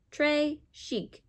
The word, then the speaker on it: très chic: Très chic.